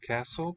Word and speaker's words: castle: Okay, handsome castle. Pretty castle, I will say. It's a bit better. Castle with a silent T. Don't say castle.